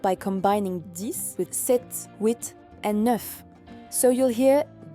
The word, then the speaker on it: huit: Huit. Here the H is silent, so we say huit.